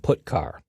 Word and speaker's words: putchar: The 2 most common C language character I/O functions are getChar and putChar. That's how I pronounce them.